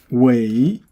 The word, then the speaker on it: 苇: You pronounce it how. So next one, wei.